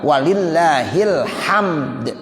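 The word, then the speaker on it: وَلِلَّهِ الْحَمْدُ: Walillahil hamd. Tuh. Jadi begitu bacanya. Jangan walillah ilham.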